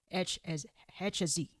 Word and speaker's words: HSE: Executive Initiatives, or the HSE, or another way of saying this is HSE. HSE. Yeah, HSE, because they pronounce H differently.